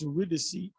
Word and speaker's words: Eurydice: When he went to get his wife, Eurydice, it's pronounced Eurydice, he wasn't supposed to look, he was supposed to play his instrument, and she was supposed to follow out of hell.